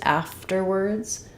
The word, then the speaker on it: afterwards: to War uh but in afterwards afterwards the stress is on the first syllable after so we have the